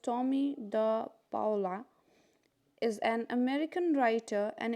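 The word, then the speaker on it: Tomie dePaola: This lesson is written by Thomas Anthony Tommy de Paula, pronounced Tommy de Paula, is an American writer and illustrator.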